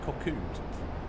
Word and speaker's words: Cockwood: There's Cockwood on our right. Cockwood Harbor, or as the locals say, Coco.